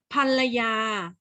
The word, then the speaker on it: ภรรยา: ถาม โยเกิร์ต นะ โยเกิร์ต ค้า ใน ประโยค นี้ คำ ว่า ภรรยา ออก เสียง อัน หรือ ออก เสียง อ่ะ คะ อ่ะ โป้ โยเกิร์ต ต่อ คุณ ทำ ได้ ไหม อ่ะ อ่ะ ค่ะ อ้า อ่าน ออก เสียง เป็น เสียง อ่า ไม่ ใช่ เสียง อัน นะ คะ ภรรยา ถ้า ไม่ มี ตัว